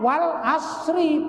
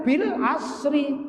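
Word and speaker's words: والعصر: Kalau baca Al-Quran bacanya Pak wal asri, bukan bil asri, ya dah.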